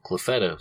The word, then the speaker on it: Clufetos: Clufetos.